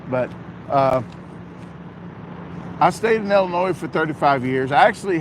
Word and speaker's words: Illinois: I hear someone say Illinois with an S, I'd have a whole lot of nickels. The S is silent unless you're from Missouri or Wisconsin, but I agree about Washington State."